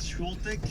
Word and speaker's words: Świątek: Alors, je vais essayer de bien le prononcer à la polonaise. C'est Świątek, la favorite Świątek.